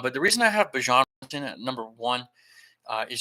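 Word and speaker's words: Bijan: If you did not see that's the correct way to pronounce his name, it's Bjon, not Bjon, which I've been doing as well, but no one's ever corrected anybody.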